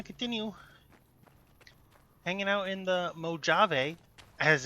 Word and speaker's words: Mojave: today we're gonna continue hanging out in the Mojave, as it's pronounced. Anybody who tells you it's pronounced some other way, is lying to you, and you should be suspicious of them. It is pronounced Mojave.